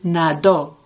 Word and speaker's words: nadó: And when he swam, él nadó. And the stress of the word is on the last syllable.